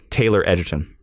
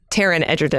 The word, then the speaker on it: Taron Egerton: pick for Adam strange would be tell me Taylor Edgerton Taron Egerton is a Terran it's Terrance my excuse me